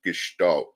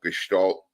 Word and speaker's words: gestalt: there's this school of thought in psychology I pronounce it gestal um and she's nicely elucidated what it is